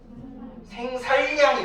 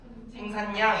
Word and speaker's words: 생산량: 생살량 이렇게 발음 안 하죠? 어떻게 발음해요? 생산량 이렇게 발음을 해요.